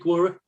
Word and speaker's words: Quora: Quora, is that how you pronounce it? Quora.